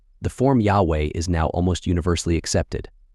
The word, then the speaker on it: Yahweh: And though there is currently no consensus on the structure and etymology of the name, the form Yahweh is now almost universally accepted, although the previous vocalization Jehovah continues to be widely used.